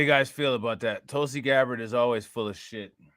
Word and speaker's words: Tulsi Gabbard: her in that one video who is that tulsi gabbard he said it right i used to like